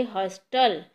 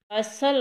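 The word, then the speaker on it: hustle: अगर हम इसको ऐसे बोलेंगे हस्टल, तो ये गलत है. ये इसमें एक वर्ड साइलेंट है, तो वो क्या है वो हमने ढूंढना है.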